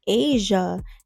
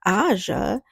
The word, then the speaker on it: Asia: Asia, not Aja, she replies, and we start laughing.